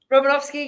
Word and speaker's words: Romanovsky: Did I pronounce your surname correctly? Robinowski. Yes, you got that right.